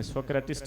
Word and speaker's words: सुकरात: सुकरात, कोई प्रोनाउंसिएशन में सोक्रेटिस्ट भी कहते हैं।